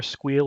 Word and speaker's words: SQL: behind it was that squeal is one syllable versus SQL is three syllables or SQL is two syllables so squeal wins unfortunately every time you say squeal you have to describe